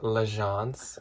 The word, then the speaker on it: L'Agence: Which, thank you everyone that commented and let me know that it's pronounced L'Agence.